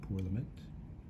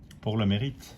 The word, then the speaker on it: Pour le Mérite: to, so that is the, how do you pronounce it, pour le mérite? Pour le mérite.